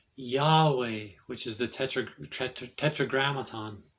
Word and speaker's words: Yahweh: Spanish y pronounced y called the tetragram is pronounced Yahweh which is the Tetra tetragramaton tetr tetti tet